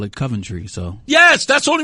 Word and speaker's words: Coventry: She said, it's Coventry. I'm like, you're not even from here. Well, some of the people I met from there call it Coventry, so.